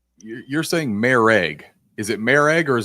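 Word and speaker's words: Moehrig: It's Marag. Okay. It is not Morag. To say it's Morag, everything I've heard, I watched a Las Vegas Raiders interview with him, and they said Marag. So Trayvon Marag is how it's pronounced.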